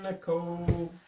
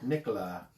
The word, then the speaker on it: Nicola: Hi, Nicole. It's Nicola. Nicola. She taught me how to say it correctly.